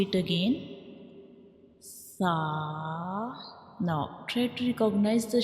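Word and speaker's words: ث: And when we pronounce sa, you make sure you don't read it with whistle sound, because this is a soft letter and we read it softly, like sa, sa.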